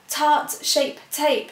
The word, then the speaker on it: Tarte Shape Tape: So I was saying it yesterday, Tarte Shape Tape.